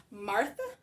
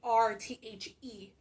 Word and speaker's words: Marthe: All right, next we have her daughter, who is Martha. I don't know if it's pronounced Martha. It's Marthe. Obviously, the French version.